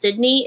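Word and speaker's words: SYDKN3E: And then it's I'm I'm certain it's pronounced Sydney.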